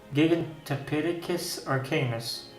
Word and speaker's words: Gigantopithecus: In my case, I happen to be an expert Gigantopithecus arcanus. That's how you pronounce it.